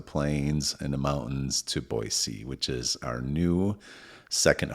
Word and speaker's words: Boise: Not Boise, Boise, Idaho.